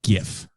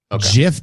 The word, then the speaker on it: GIF: day it was born i pronounced it gif jif just doesn't sound right uh ack what about you i have the exact same trajectory as you jack i for years pronounced it jiff and was treated to a thorough brow beating primarily with the same arguments made in that video and eventually came around to pronouncing it gif instead i i i wasn't